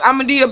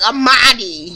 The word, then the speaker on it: Amaadi: I was like, everybody at in the class was like, Amaadi, not Amadea.